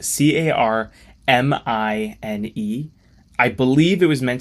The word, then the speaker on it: Carmine: be possible um anyways I explained my struggles with reading the name and we decided to make that the actual pronunciation and I think it's great now we don't have two car and even better like I said earlier it gave me an idea for the design car mine a literal car thief